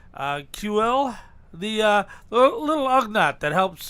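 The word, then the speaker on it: Kuiil: What I got, by the way, Star Wars: The Mandalorian retro collection of a dude I cannot pronounce his name. QL, the little Ugnaught that helps.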